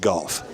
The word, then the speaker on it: Gough: The West Limestone head coach of golf is David Gough, but it's spelled G-O-U-G-H, kind of like cough with a G, right?